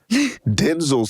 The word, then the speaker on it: Denzel: like actually I should call him his correct pronunciation of Denzel. Denel says you used to have to be good